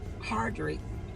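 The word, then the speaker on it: Hardrict: Tia Mowry Hardrick, how do you say her last name?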